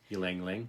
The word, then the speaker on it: ylang: Ylang. Ylang or lang lang? Ylang. It's like a yo-yo.